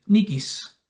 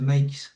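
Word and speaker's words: Nyquist: Esto se conoce como el criterio de Nikis. Al aplicar Nikis, no se pronuncia Nikesis la pronunciación.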